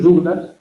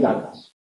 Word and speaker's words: Douglas: El hijo de Chris Douglas, no, el hijo de Kirk Douglas es Michael Douglas. Lo ocurre que Kirk Douglas se hizo famoso en España cuando Douglas se pronunciaba a la francesa.